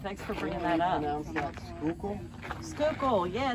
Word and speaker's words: Schuylkill: Schuylkill?